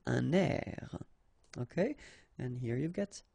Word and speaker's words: un air: Okay, we'll make this little link between the two, un air.